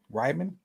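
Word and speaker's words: Reiman: Oh, Ryman.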